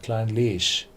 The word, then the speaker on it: Clynelish: Every Gaelic distillery is pronounced on the second one, Clynelish, Lagavulin, Bo More.